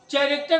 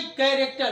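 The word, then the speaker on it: character: हाँ, तो मैंने क्या कहा कि चैरेक्टर नहीं, कैरेक्टर। क्या पढ़ेंगे? कैरेक्टर। तो आपने देखा कि सी एच का उच्चारण क्या हुआ?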